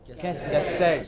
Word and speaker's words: cassette: So it is cassette. The first syllable is hardly heard. It is not ka, it is just ka. What is it? Just ka. So this is cassette. What is it? Cassette.